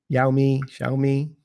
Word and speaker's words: Xiaomi: I'll never pronounce it right. The company is XIOMI. Xiaomi.